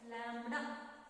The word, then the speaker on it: lambda: In Greek, this letter wavelength is represented by the letter lambda, and in Greek it is pronounced as lambda.